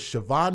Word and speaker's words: Shevhuan: Again, if you want to follow this story, her name is Siobhan Miller. It's spelled really weird. It's s h e v h u a n miller.